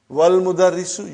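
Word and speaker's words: والمدرس: Wal mudarrisu, you did not pronounce Hamza.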